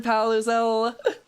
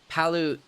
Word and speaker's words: Palutzel: No, it's Palutzel. That's how you say it.